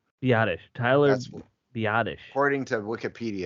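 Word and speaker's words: Biadasz: which is Wikipedia which is always right is badish badish Tyler badish according to Wikipedia it's Bish the classic zent silent Z on the end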